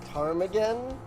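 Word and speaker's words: ptarmigan: what pit i i i'm assuming the p is silent parmagan it's a bird the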